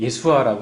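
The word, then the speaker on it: ישוע: 구약의 여호수아가 신약의 예수, 또 히브리 발음은 예수아라고 하는데 동일한 이름을 두 분이 가지고 공유하고 있는 거죠.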